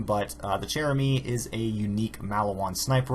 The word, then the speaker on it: Chère-amie: uh the gun being the cheramy I believe that's how you pronounce it is a French name but uh the cherem is a unique malaan